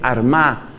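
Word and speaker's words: Armagh: sede san patricio fue arma que se escribe con gh al final san patricio desde la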